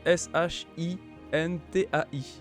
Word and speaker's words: shintai: prononce toutes les lettres le SH se prononce che et quand on a ai ça se prononce ai après si on prononce un petit peu rapidement peut-être ça donnera un shintai le hit de manière